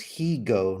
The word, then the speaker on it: Higo: Ben said his name is Higo, not Hygo. Higo, whatever.